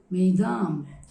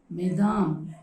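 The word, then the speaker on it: mesdames: in number then we should say good morning maidam that is the plural form but here i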